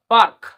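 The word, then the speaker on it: park: হ ফার পি এ আর কে কি হবে পার্ক তারপরে স্টার ফম এফ এ আর এম ফারম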